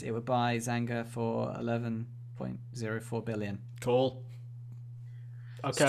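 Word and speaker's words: Zynga: yeah, and in other news, Zanya was sold for £11 billion. Zanga. Yeah, Zanga? Zanga. I don't know how to pronounce it. Yeah. Oh, Zanga. Sorry, I missed out the G. Zanga.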